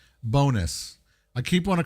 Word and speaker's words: Bohnice: This game is called Bonus. I keep want to call it Bon nice, but it's pronounced bonus.